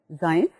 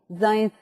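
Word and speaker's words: Zajonc: One of them was presented by Zains, जिसको मैंने ये भी कहा था कि some people pronounce as a jonk, but anyway that doesn't matter कि आप उसको क्या भी pronounce करते हैं.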